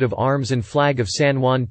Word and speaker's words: San Juan: San Juan, San Hwn, Spanish pronunciation.